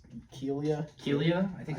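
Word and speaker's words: Kealia: Now JJ Watt's fiance, I'm not gonna pronounce her fucking name right. What is it? It's like Kalia Ohai. It's Kelia.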